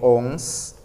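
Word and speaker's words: onze: Y como te das cuenta, a la letra E la he marcado con otro color, porque no se pronuncia. Yo en el 11 digo ONS.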